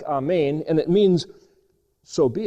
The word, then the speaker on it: Amen: word A-M-N, which is, if you put an E there, it's Amen, or the Hebrew way of pronouncing it is a little bit more like Amen, and it means, so be it.